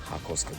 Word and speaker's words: ハコスカ: Hakosuka, good pronunciation.